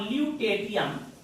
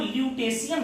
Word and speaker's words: ल्यूटेटियम: यह series cerium 58 से शुरू होता है और ल्यूटेटियम 71, इसको कुछ लोग ल्यूटेशियम भी पढ़ते हैं, टी का उच्चारण सा, सीरियम 58 से ल्यूटेटियम 71 तक जाता है।